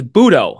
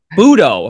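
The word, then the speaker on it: José Buttó: three starts for uh Jose buo budo his pronunciation is budo I apologize I was like wait is it butto right but butto just I mean it kind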